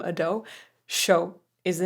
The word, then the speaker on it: Ado: Okay, this artist is Ado. I've been told that that's how to pronounce the name, Ado.